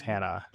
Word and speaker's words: Hanaa: your name Hannah and you're like no it's Hannah I was like Oh, sorry. Well, it's spelled haha.